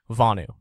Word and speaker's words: Vonu: and welcome to the inaugural episode of the vanu podcast I'm and I'm the website